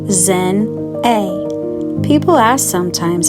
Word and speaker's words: Xinae: It's pronounced Zen A.